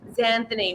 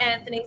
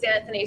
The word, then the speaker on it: Xanthony: When I'm ordering a coffee, because I have such a different name, sometimes I can't be bothered with it's Xanthony, not Anthony, Xanthony.